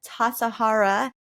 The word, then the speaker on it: Tassajara: Marc was a resident of the San Francisco Zen Center for 10 years and director of the Tassajara Zen Mountain Center, the first Zen monastery in the Western world.